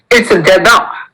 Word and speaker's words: dedans: It's dada. Here, dada means inside. Dehor means outside. S will not be pronounced in both.